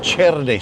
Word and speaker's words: cherne: In Spanish it's called Cherne c h e r n e Cherne.